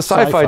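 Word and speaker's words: SYFY: on his Council um s i FY how would you pronounce that it's that's the Sci-Fi channel it that's how I call it yeah I think that's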